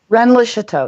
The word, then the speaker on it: Rennes-le-Château: Well, why don't you explain what the theme is, and how you ended up in Rennes le Chateau. Am I pronouncing it correctly? Yeah. Rennes le Chateau.